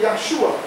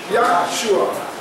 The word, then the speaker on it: Yeshua: If you were speaking Hebrew, you would say Yeshua. So the Hebrew would say Yeshua. The Greek would say Yusos. The English Yusos is Jesus. The Spanish is spelled the same way, but they say Jesus. But when they say Jesus, when they say Jesus, when they say Yusos or Yeshua, it's the same.